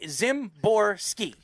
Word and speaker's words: Szymborski: i mean uh he he was trying to pronounce it to me i was like uh how he's like zimborski zimborski so there you go